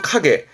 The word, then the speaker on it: 影: 뜻으로는 카게, 그림자를 말해서 발음은 카게, 그림자도 있고 어떠한 모습이라든가 자취들을 말합니다만 주로 그림자와 모습을 의미하게 되고요.